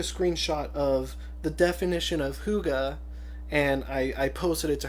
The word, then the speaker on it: hygge: the definition says hygge it's spelled hyg GE and then it says pronounced hygge obviously it says hygge is